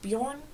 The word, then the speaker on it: Beorn: I've heard it pronounced Bjorn, but in the audiobook narrated by Andy Serkis, it's pronounced Beorn, so I think that might be more correct.